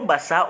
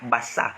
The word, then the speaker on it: Basaa: Mais lorsque vous prononcez, vous ne dites pas Bassa. Parce que lorsque c'est B, c'est B-A-S-S-A. Donc, ça doit être prononcé Bassa. Mais aucun d'entre vous ne dit Bassa. Mais vous dites toujours Bassa. Mais, donc, ça veut dire que vous prononcez sans toutefois lire. Donc, il y a un son R à la fin. Donc, ça doit prendre R.